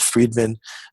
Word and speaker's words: Friedman: exactly Gavriel freed minutes Friedman I'll give it to you as fried man you go back to